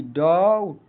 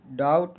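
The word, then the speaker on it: doubt: यदि बी के बाद यदि किसी वर्ड में बी के बाद टी आ रहा है तो बी साइलेंट होता है उच्चारण देखते हैं कैसे साइलेंट होता है डी ओ यू बी टी डाउट डाउट means संदेह इसमें क्या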